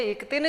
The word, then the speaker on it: क्तिन्: अब इसको कितिन नहीं पढ़ करके हम इक्तिन प्रत्यय पढ़ेंगे।